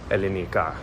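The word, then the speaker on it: Ελληνικά: Calimera, for those of you who are not cultured, that's how you say good morning in Elenica, which for those of you who are uncultured is how you say Greek in Greek.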